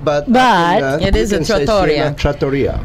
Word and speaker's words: trattoria: Trattoria. It's trattoria. I've always been saying trattoria. Trattoria. You know what? I did too. I always put the emphasis American, on the wrong syllable.